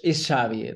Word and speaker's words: Xavier: It's Xavier. The X is an S. Xavier.